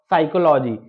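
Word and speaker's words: psychology: क्या है पी आया तो यहां पर पी साइलेंट होगा और साइकोलॉजी साइकोलॉजी में यहां पर क्या है एस यहां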